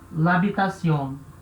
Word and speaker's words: l'habitation: Então o certo é escrever e falar l'habitation, certo? La habitación tá errado.